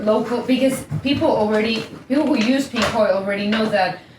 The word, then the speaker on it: Pinkoi: Yeah, it's called Pinkoi. Pinkoi? How do you spell that?